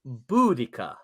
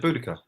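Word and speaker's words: Boudica: know oh here we go harrenberg says it's pronounced budika thank you I don't know Pete said it was something else no I said buddhica yeah yeah stop saying see ya uh okay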